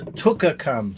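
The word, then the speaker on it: twca cam: The Tucker cam. So apparently I've been learning a bit of Welsh, so only Google obviously, but the W in TWKA, the W in that Welsh pronunciation is like tuk.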